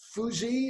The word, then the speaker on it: FUSE: Is it pronounced Fuse, or how do you pronounce the name of your organization? Fuse? Well, we're Firefighters United for Safety, Ethics, and Ecology, and our acronym is pronounced FUSE.